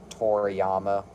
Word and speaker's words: Toriyama: How do you pronounce his last name? Toriyama. Toriyama.